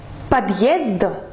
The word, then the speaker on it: подъезд: En fait, cette lettre, elles servent à partager bien les 2 syllabes. Par exemple, si on écrit le mot подъезд, donc P-O-D, tvrdy znak, Z-D.